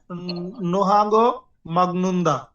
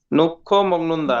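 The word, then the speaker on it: 놓고 먹는다: তারপর পাবগুরুসুন সিগদাং নোহাগো মাগনুন্দা নোহাগ মগ্নুন্দা উচ্চারণ হবে না এখানে নক্ষ মগনদা ভাবখুরু সিকথাকয়ে সিকথাক মানে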